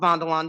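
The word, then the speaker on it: Vanderlande: at a company called velanda Industries it is pronounced velanda it is a Netherlands based company and you've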